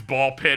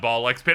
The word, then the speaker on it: Ball x Pit: I assume it's Ball Pit and not Ball X Pit. I'm pronouncing it how I pronounce Hunter x Hunter, the anime, Blueprints, Claire